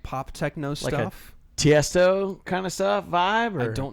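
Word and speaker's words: Tiësto: Tiesto.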